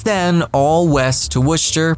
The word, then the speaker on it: Worcester: there since 1912 it's then all West to wer pronounced Worcester you know it's great they included the